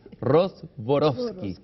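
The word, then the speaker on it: Rostworowski: Y para hablar de eso está conmigo en esta conversación María Rozborowski, siempre se me equivoca su apellido, voy a pronunciarlo de nuevo, es Rozborowski, un apellido polaco.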